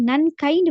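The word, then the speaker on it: 何階: அப்படின்னு வரும் அதே மாதிரி எத்தனையாவது மாடி அப்படின்னு கேள்வி கேட்கிற நேரம் வந்து நன்கைன்னு வராது நன்கை நன்கை அப்படின்னு வரும் க சவுண்ட் வரும் ஓகே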